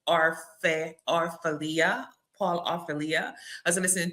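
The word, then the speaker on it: Orfalea: I can't pronounce his last name. Orfalia.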